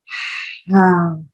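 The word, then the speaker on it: حاء: So you will pronounce ha, and the articulation point of this letter is middle part of your throat, middle part of your throat. And this is also a light letter. So your tongue, your throat, all will remain relaxed, right?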